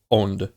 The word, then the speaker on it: Onde: It's like It's like owned and it means wave, which makes sense.